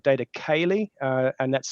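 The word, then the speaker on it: céilí: And I run an Irish event here that's in June every year called Data Cayley, and that's spelt data. You know how to spell it, but Cayley is CEILI.IE, and the word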